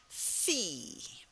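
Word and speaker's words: Phi: sound oilon followed by Fe now that's sort of like our letter F that's the sound uh but but the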